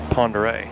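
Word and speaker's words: Pend Oreille: the lake and again that lake is pronounced Ponder close to the cter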